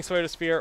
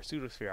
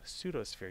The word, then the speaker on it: Pseudosphere: Suosphere or Pseudos Pseudosphere. Pseudosphere. I mispronounced your name. Pseudosphere. You already yelled at me for this. Like like Pseudo Widow the Pokemon.